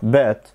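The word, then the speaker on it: bet: بات دي معناها يراهن وخلي بالك في النطق لانها مختلفه عن كلمه تيت اللي معناها جزء او قطعه او حبه صغيره اللي هناك اسمها ت لكن دي بات دي مفتوحه بات وال هناك مكسوره تيت تمام دي اول نقطه فكلمه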